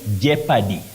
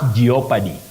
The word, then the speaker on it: jeopardy: Thomas Kam of ner you say Jeopardy not geopy Jeopardy that o is silent Jeopardy jeopardize not geopy and not geopad Belinda NAA of kaka